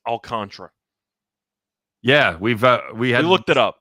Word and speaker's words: Alcantara: By the way, memorabilia, it is pronounced Alcantara.